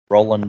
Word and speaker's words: Roland: Terry Yours asked one with Ronald Doe. Well, I'm gonna have to look that one up now. Oh, Roland Doe.